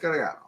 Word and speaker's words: Gagliano: about my name, because if you look at my name, it looks like it's spelled Gagliano, right? But I've been told it's Gagliano. So I went down and was able to ask, and they were like, yeah, no, Gagliano. It's pronounced Gagliano.